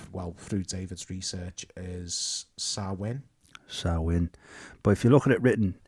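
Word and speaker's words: Samhain: want to have a go the well the pronunciation that we found well through David's research is sawin sawin but if you look at it written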